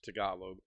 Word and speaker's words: Tagalog: did you did you learn any languages that your wife knows, Tagalog or whatever that is? No. Okay. No, I feel bad about that too. I absolutely know very little Tagalog or Tagalog. It's Tagalog.